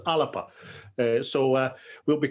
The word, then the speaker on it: Alba: but you're quite correct the garlic pronunciation's alipa uh so uh we'll